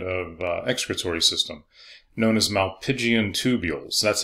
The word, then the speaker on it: Malpighian: They also have a different kind of excretory system, known as malpighian tubules. That's how you pronounce that, malpighian.